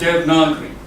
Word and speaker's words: Devanagari: It's called Devanagari. This one, you don't usually pronounce it, you say Devanagari, but it's spelled Devanagari, but it's pronounced Devanagari.